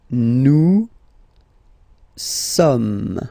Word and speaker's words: sommes: Nous sommes, okay? So you don't pronounce the final S here.